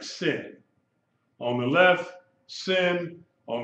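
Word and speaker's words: שׂין: sound she sh okay if the dots on the left you pronounce it with just the s sound like sin on the left sin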